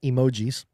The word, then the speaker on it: emoji: Uh now just a little side note, spending some time with family over the weekend started talking about emojis. Apparently that is not how you pronounce it.